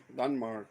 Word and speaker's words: Denmark: Denmark.